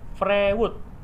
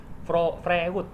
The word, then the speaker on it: Freud: Kita cari tulisannya Freud, F Fanta, R Roger, E Eagle, Uganda, D Delta. Freud, tulisannya Freud, tapi Freud. Jadi kalau misalkan mau cari tahu ego super ego yang lebih dalam lagi, tinggal cari di Google namanya Freud, tapi bacanya Freud ya teman-teman.